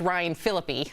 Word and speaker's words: Ryan Phillippe: Also, it's Ryan Phillippe. I don't know why I mispronounced it.